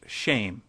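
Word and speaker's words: שֵׁם: Hebrew word for name, which is Shem, pronounced shame.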